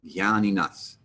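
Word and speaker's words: jñāninaḥ: And the J with the N next to it, as a general rule, will lose its J-ness, J, and become more of a G sound, gya. So these two words are going to be pronounced jnanam and jnaninas.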